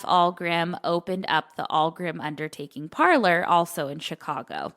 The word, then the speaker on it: Ahlgrim: It's the Allgrim Family Funeral Services. It's spelled AHLGRIM. But Allgrim Funeral Home is located in Chicago, but the